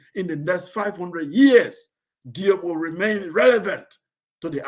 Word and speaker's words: Diop: But in the Wolof, his name is actually pronounced Diop. It's Diop. Cheikh Anta Diop. That's how it's pronounced in Senegal, not Diop.